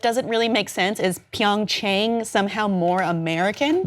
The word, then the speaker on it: Pyeongchang: it Athens those are Anglican eyes things but pyeongchang we are learning it now we might as